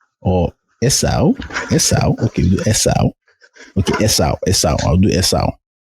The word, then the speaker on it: Esau: You know, like SAU, like sauce. Mm-hmm. So, Esau. I'll do Esau. Either I'll do it to Yoruba as Esau. Mm-hmm. Or Esau. Okay, we'll do Esau.